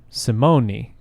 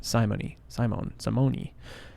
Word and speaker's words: Simone: It's an Italian name. Simone.